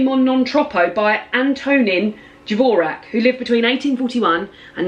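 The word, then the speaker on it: Dvořák: non troppo by Antonin Dvorak, who lived between 1841 and 1906. And it says a close contender for the 4th of July spot, Antonin Dvorak, or pronounced Dvorak, composed this ebullient, lovely string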